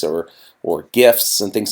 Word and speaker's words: GIF: a gift not jiff because graphic doesn't start with a J otherwise that it would